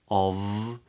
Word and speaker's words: of: think of and here of can be pronounced as a weak form which means that it can be pronounced as a schwa so not of with a V but